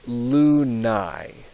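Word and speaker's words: lunae: be Aurora and then the A and the E are are always pronounced sort of like an i or you could say a y in as in the word my um so this word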